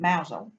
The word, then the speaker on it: Mousehole: got a little harbour, but you spell it Mousehole. Well, I can't read nor write. I can talk though. I thought it was interesting. So I goes back and said to the mouse, "Hey, there's a place called Mousehole." They pronounce it Mousehole in Cornwall.